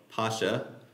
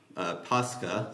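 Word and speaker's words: Pascha: closer historical accuracy uh Pasha is from the Greek word pasca so you just kind of add the kai uh pronunciation which is based on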